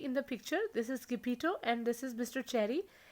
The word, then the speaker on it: Geppetto: Some people read it Geppetto. That is not incorrect. So the proper pronunciation of this name is Geppetto.